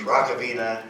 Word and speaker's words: Hrachovina: rovina Rock of Ages Rock ofina and you've got it so that's how my last name is pronounced and I'm so glad